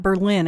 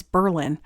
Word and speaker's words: Berlin: been reliably informed that that is the correct pronunciation by someone who grew up in that area it's not Berlin it's Berlin so we went to Berlin and the last time we were there probably